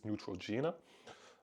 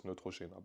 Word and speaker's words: Neutrogena: that got restricted Is Neutrogena um which is not the right way to pronounce it it's Neutrogena by the way um